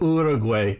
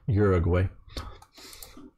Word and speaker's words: Uruguay: I know Uruguay is the maybe more correct pronunciation, but I will use the American Uruguay just because that's what we understand, and I'm not trying to be elitist or whatever and say it different.